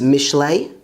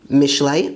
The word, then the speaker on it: משלי: Proverbs is Mishlei, Mishlei, which means Proverbs.